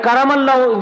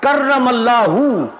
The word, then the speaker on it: কাররামাল্লাহু: এটা কারামাল্লাহ স্পেলিং কি লিখেছেন? না, এটা উচ্চারণ হবে কাররামাল্লাহু, কাররামাল্লাহু ওয়াজহাহুল কারীম।